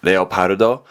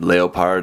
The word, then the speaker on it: Leopard: in Katakana actually says leopardo but it's not leopard it's just leopard like the animal H so that's how